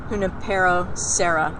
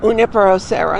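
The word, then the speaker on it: Junípero Serra: And speaking of great padres, I know that anybody who's lived in California knows the name Junipero Serra. Did I pronounce it right? Junipero Serra. Junipero Serra.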